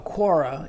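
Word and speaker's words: קָרָא: let me uh actually this word is actually quora is is how you you would pronounce it and it's found 38 times it's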